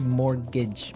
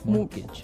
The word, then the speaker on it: mortgage: with a t yeah it has a t in it but you don't pronounce it you say mortgage morgage so not Mort morgage